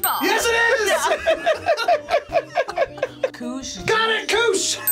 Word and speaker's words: Koosh: Okay, it's a KOOSH ball. Yes, it is! Yeah. KOOSH. Got it, KOOSH! It's a KOOSH ball. It's a KOOSH ball. It's a KOOSH ball. Rhymes with swoosh, starts with a K.